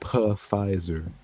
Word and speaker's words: Pfizer: yeah, it's pronounced Pfizer.